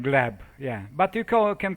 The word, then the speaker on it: Gleb: you say how do you say your name glab glab yeah but you can call me Glenn because